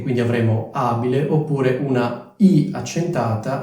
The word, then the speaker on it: abile: la cosa importante è Ricordarsi che la vocale è accentata quindi è abile ibile come dicevo questo suffisso